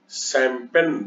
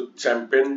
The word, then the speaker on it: champagne: Success with शैंपेन, देखो इसके उच्चारण में आपको प्रॉब्लम हो सकता है, इसको चैंपेन नहीं पढ़ेंगे, शैंपेन।